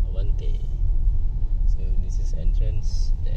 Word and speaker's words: Avante: to pronounce. Avante. Not Avante. Avante.